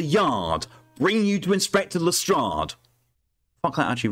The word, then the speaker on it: Lestrade: It's pronounced Lestrade. Gin. I think the worst thing is this one, because it was bad enough in Case of the Silver Earring when he was consistently called Lestrade.